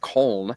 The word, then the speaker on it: Köln: And now in the German spell it, there's two little dots above the O in Köln. Yeah, they do not sound. They don't pronounce it Cologne. They pronounce it Köln.